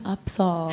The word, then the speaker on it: UPSAHL: it just t i I'm always correcting people I'm like no it's upsa up yeah what are some